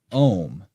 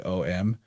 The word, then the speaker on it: Om: origin of their word Om. And in fact, it's not really spelled, it's pronounced like O-M, but it's not really spelled that way. They spell it more like A-U-M, like that.